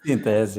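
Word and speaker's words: Synthese: Eu falo Sintese, não sei se a pronúncia é correta. Sintese, é isso mesmo, Adolfo.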